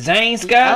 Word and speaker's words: Zhane: I wanted to make sure, because at first I'm like, is it Zhane Sky? Oh, yeah. But then I see in parentheses, you said pronounce Zhane.